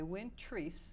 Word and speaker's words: Win Treese: Wayland Massachusetts I'm delighted to be joined by Wynn trees when am I pronouncing that correctly yes you are okay good